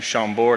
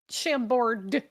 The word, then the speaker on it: Chambord: I love except I hate when people pronounce the final D's on French words like that. Oh, Like, you know, just enough French to say chateau, but Chambord. oof.